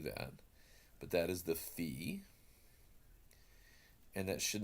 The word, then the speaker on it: phi: But it kind of looks like a phonograph, and so that's a good reminder of the Greek letter phi, which would be pronounced with our English letter F.